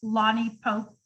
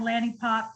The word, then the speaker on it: Lani Popp: board of education and my name is actually pronounced lonnie pope lonnie pope okay thank you everybody but it looks like lanny pop and people i just